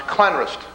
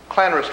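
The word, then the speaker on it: Llanrwst: we have a double l again and that's pronounced clanrest clanrest whales and just outside of clan roast is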